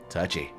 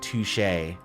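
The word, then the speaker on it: touché: Touchy. I think it's pronounced touche.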